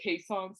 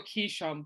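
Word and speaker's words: Keeshond: Actually, I pronounce them are called Kaysons, so we go Keyshawn, but it's really Kaysons.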